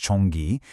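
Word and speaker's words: 전기: But when you bring in the Korean translation, pronounced chonggi, it instantly frames the concept for you.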